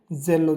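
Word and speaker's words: zelo: तो इसका उच्चारण जे की तरह होगा। जैसे जेलो जेलो यानी उत्साह।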